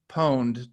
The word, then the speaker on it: pwned: most people recommend is have I been poned comm and that's pwned spelled like owned but the Oh turns into a P because reasons we don't have to go